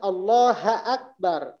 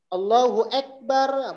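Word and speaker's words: الله أكبر: Contohnya Allahu Akbar, dibacanya Allaha Akbar, Allaha Akbar. Atau orang juga sering ketika azan Allahu Akbar, mungkin ini harusnya fathah tapi ke E bacanya.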